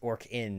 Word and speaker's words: Orcan: It's Orc-in, as in like the Orcan band, but I don't care.